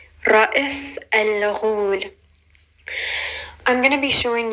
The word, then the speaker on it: Ra's al Ghul: One of the people who first responded to that post actually asked me if I would teach them how to pronounce Ra'is al-Ghul. Ra'is al-Ghul.